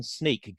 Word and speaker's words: Snyk: Well, Guy Podjarny from Snyk. Guy, did I pronounce Podjarny correct? Did I pronounce Snyk correctly?